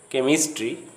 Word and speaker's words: chemistry: When the H sound comes after C, it is not pronounced, as in the following words: chemistry, chemical, stomach, mechanical, school.